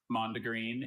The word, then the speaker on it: mondegreen: Mondegreen is from an English phrase. Are there any alternate pronunciations?